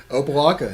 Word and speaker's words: Opelika: Is that pronounced correct? Opelika, that's right.